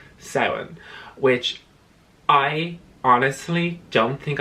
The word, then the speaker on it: Samhain: i just oh anyway so it's not samhain even though phonetically as an english speaker reading that you would think it's something it's actually seven and seven or halloween